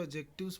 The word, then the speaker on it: adjective: ठीक है, एडजेक्टिव में इसमें डी साइलेंट होता है, इसीलिए इसको एडजेक्टिव्स पढ़ा जाता है।